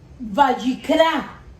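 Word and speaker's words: ויקרא: En el idioma hebreo, la palabra Levítico se pronuncia Vayikra.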